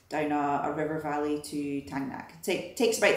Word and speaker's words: Thangnak: Tangnak is written as Dragnag on a lot of different maps. Don't know why, but we pretty much heard everyone pronounce it as Tangnak.